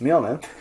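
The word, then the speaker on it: Mjölnir: at all the cumin hey Fiona which is pronounced as me omen me only is the name of force hammer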